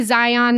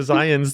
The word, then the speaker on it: Zion: Utah oh my goodness if you want to say Zion that's fine that doesn't bother me but if you are from Utah please for the love stop saying Zion Oh I'm so excited to go to Zions this weekend no don't do it so today we're talking